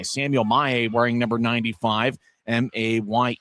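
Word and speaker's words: Mayer: M A Y E R his last name but the pronunciation guide says May as Grizzlies get it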